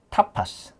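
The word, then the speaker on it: tapas: 그 빠에야 옆에 있는 타파스. 네. 근데 이제 저희는 아까도 말했지만 T를 네. 세게 발음하거든요. 그래서 네. 타파스. 타파스. 우리가 이제 영어로는 타파스 그러지만 타파스 그러지만 여기 있는데 타파스. 타파스. 타파스라고 발음합니다.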